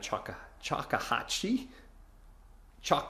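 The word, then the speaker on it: Choctawhatchee: into the bay and Chaka chahi chak Bay that's how we pronounce it so uh or at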